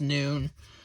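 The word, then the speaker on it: נון: but it's pretty much pronounced as noon just like the English word noon basically and it's written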